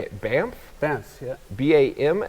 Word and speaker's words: Banff: Banff, yeah. B-A-M? Like, I know how it's spelled, but Yeah.